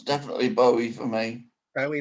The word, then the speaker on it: Bowie: don't know i think people tend to pronounce it um both ways to be honest well let's have a straw paul maca what what would you say oh it's definitely bowie for me very like